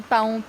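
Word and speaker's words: paon: c'est la façon d'écret tu écris pon a o n mais on prononce pon ah d'accord alor ok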